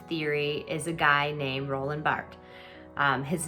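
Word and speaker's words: Roland Barthes: theorists of narrative theory is a guy named roland bart his name is spelled bart's but it's actually roland bart that's how you pronounce it and he writes narrative is an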